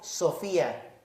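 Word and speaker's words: σοφία: muy bonita que se dice se se se pronuncia en griego Sofía alguien de aquí se llama Sofía bueno por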